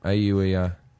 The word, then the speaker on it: Auer: Auer. A-U-E-R. A-U-E-R. Hour. Auer. I'm gonna Which is pronounce it.